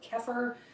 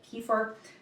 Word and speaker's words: kefir: to add is kefir some people call it kefir I've heard different ways to pronounce it I call it Kieffer now this one is